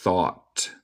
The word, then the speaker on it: thought: Entiendo que hay muchas letras aquí, pero la pronunciación es thought. Thought. En el acento estadounidense comemos el T final, entonces yo digo thought.